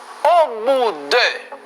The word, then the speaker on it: au bout de: Au bout de. Au bout. Au bout. La T no se pronuncia. La O y la U se pronuncia como U. Por lo tanto, yo digo au bout de.